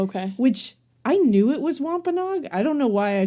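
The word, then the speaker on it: Wampanoag: Which I knew it was wampaog. I don't know why I chose to pronounce it like phonetically.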